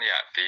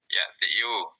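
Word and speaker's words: يأتي: Kalau nggak ada an kan ya'ti dia. Ya'tiyu. Dia muqaddarah. Ya'tiyu tapi dibacanya ya'ti saja.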